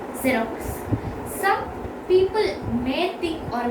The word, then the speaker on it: Xerox: We are not telling it as Xerox. We are telling it as Xerox. Xerox. So we pronounce X there.